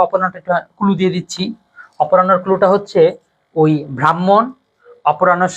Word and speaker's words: অপরাহ্ন: যখনই হফলা থাকবে তখন তোমরা দুটো জিনিস মনে রাখবা, হফলাটা মানে হ লেখায় পরে আসে কিন্তু উচ্চারণে আগে আসে।